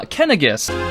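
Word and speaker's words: Caineghis: just randolph and um apparently i was pronouncing king kinnais as king canaanites but according to firemen heroes it's actually uh kennegus tribe so i'll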